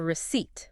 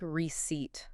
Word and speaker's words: receipt: It looks like receipt. It does. But that P is totally silent. It's just receipt.